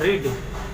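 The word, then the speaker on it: read: पढ़ना क्या होता है, रीड, रीड का भी टू रेड, रीड का भी टू रेड, और स्पेलिंग जो है वो रीड वाला ही रहेगा। पढ़ते इसको रेड है, रीड, रेड, रेड, ठीक है।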